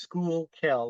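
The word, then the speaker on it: Schuylkill: um the skookul river it's got a very weird spelling but it's pronounced School kill like school where you take your classes in Kill skookul River um where the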